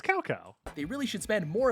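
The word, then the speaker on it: Cao Cao: voice actors it's really mispronounce almost every single character name you must remember this cow cow bro it's calco they really should spend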